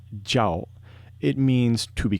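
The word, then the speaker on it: 叫: means to scream but in Chinese when it's pronounced jao it means to be called so in other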